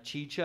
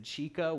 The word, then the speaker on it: chicha: are unfamiliar like quinoa or even chicha as you heard me at the beginning i said chica which i believe is a woman in spanish so don't try to